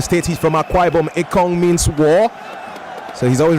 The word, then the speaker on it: Ekong: Just to remind you again, that word Ekong is pronounced more like Ekong, and it means war.